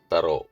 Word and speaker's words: thorough: വളരെ സാമ്യമുള്ള രണ്ട് വാക്കുകളെ പറ്റിയാണ് പറയുന്നത് ത്രൂ ആൻഡ് തറോ ഓരോ വാക്കുകളുടെയും ത്രൂവിന്റെയും തറോയുടെയും അർത്ഥങ്ങൾ കൊടുത്തിട്ടുണ്ട് ഇനി സ്പെല്ലിംസ്